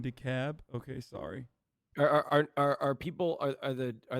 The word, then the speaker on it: DeKalb: Don't pronounce the L in DeKalb.